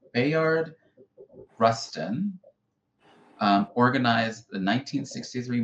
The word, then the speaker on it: Bayard: But right now told it's Bayard like ba like you say both wise.